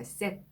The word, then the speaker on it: cet: 그래서 set라고 발음을 했는데요. 이 때형도 남성 제2형입니다. 뒤에 나오는 단어가 남성 명사라도 모음으로 시작됐을 경우에는 모음 충돌을 피해주기 위해서 이 때를 집어넣어서 발음을 해준 거예요.